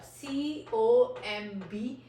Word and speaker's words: comb: For example, this is the first word comb, C-O-M-B, comb. So इस word में आप ये देखें C-O-M-B हम लोग B को pronounce नहीं करेंगे, तो हम लोग कैसे कहते हैं comb.